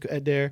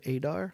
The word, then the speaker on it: Adair: The older I got, it's just like, nah, man, it's Adair. And they'll leave out the I. They'll be like, Mr. Adar, and I'm like, close, but you left that entire letter.